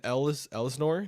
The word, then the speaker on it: Elsinore: Or Grandin, Grandin and Elsinore.